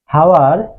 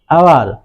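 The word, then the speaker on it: hour: হাওয়ার না হয়ে হবে আওয়ার, হয়ের উচ্চারণটা এখানে হবে না।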